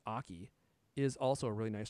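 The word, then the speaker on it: Aukey: somewhere um yeah and this aoki which i'm pretty sure is pronounced aki is also a really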